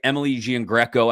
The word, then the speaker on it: Emily Giangreco: was asked by uh I'm not not goingon to say her name right Emily Giangreco I think is how it's supposed to be said you got it right okay awesome from WTAE